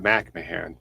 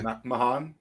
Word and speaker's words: McMahan: It's usually pronounced McMahan, but that's really roll with it. Yeah, McMahan.